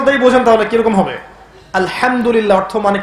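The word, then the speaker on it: الحمد لله: আলহামদুলিল্লাহ অর্থ মানে কি? এখানে যে হা আছে, এটা কি বড় হা না ছোট? হুত্তি না হাওয়াস? হায়ে হুত্তি, এটাকে বলে বড় হা। উচ্চারণ কোথা থেকে করতে হয়? মাঝখান থেকে।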